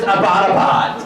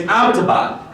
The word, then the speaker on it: Abbottabad: And I was like, really, you're from Abbottabad? And she's like, yeah, and it's not pronounced Abbottabad. I was like, oh, how do you say it? She was like, it's Abbottabad.